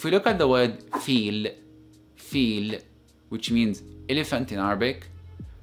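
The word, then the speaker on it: فيل: actual word if we look at the word feel which means elephant in Arabic notice how pronounce the letter of in this world it is renounced as fi so it is feel feel now this fact is listen up and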